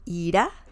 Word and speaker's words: irá: And the pronunciation is a bit different too. Ira, anger. Ira, will leave.